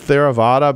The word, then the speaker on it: Theravada: And I'll take a shot at pronouncing it Theravada, but that, I'm sure I've got that wrong. You got it right.